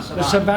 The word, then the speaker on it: Saban: The Saban Saban.